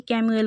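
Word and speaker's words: Chamuel: এবং আর্কএঞ্জেল শ্যামুয়েল, অনেকে এটাকে ক্যামুয়েল উচ্চারণ করে, যাই হোক।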